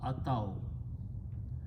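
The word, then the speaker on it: أتوا: So when you have a weak letter ya in the beginning, we drop and we just pronounce ataw.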